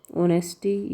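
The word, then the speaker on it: honesty: नॉन वय lens राइटिशियसनेस ऑनेस्टी ईमानदार righteous ऑनेस्टी को भी बोलते हैं। ओ एच साइलेंट है यहां पे नेस्ट ई ऑनेस्टी इनग्रेव्ड इन ग्रेव और इनग्रेव्ड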